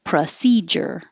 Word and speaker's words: procedure: position this is um anything that begins with Pro you can say with Pro but most Americans are going to change it to uh because it's not stressed so procedure or procedure and the ja it looks like du but it's a j so again the tongue has to touch the top of the mouth and pull it down procedure there's also a J